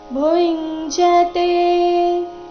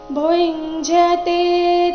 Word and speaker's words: ಭುಂಜತೇ: ಆಗಿದೆ ಭುಂಜತೆ ತೇತ್ವಗಂ ಪಾಪ ಭುಂಜತೆ ಇಲ್ಲಿ ಭೂ ನಂತರ ಇರೋ ಅನುಸ್ವಾರದ ಉಚ್ಚಾರಣೆ ಚ ವರ್ಗದ ಅನುನಾಸಿಕ ಯ ರೀತಿ ಬರಬೇಕು ಭುಂಜತೆ ತೇತ್ವಭಂ ಪಾಪ ಯೇ ಪಚನ್